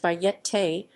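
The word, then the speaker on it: Bayeté: cochran then known under the alias of bait pronounced by yet tay was a child prodigy and formally trained keyboard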